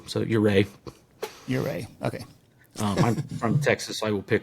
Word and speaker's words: Ouray: Like, what is the correct accent on the on the second syllable? So, ureay.